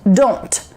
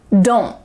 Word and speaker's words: don't: The T is really clearly pronounced, don't. Or you could say it quickly, kind of relaxed, maybe lazy style, don't. There's not really a T that's coming out, don't.